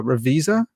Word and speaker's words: Ravizza: name out loud so is it mark uh revisa yes that's the way i've heard it pronounced okay yeah i never